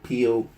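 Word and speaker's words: Peyo: I would say his name wrong. Pio, I believe it is.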